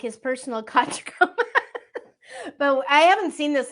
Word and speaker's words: Tachikoma: the Shell thing because I think it's a Takakoma is how it is. I'm sure I got it wrong, but I know that you were. Tachikoma.